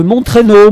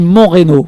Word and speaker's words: Montreynaud: nommé j'ai été nommé au collège de montrer nos moi je disais montré non ça se prononce comme ça je suis désolé et je demandais pas leur plaisir voilà j'ai demandé mon dos et où les gens me regardaient bizarrement non c'est montreynaud voilà et j'ai un souvenir